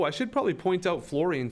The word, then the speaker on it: fluorine: probably point out fluorine fluorine is spelt a little bit weird some of these elements are spelt a bit weird usually words with uh like this sound o orene is usually o u but fluorine is actually u